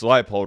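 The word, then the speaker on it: Leipold: Kansas's head coach Lance leapold I said Leo it's lifeold right I do apologize if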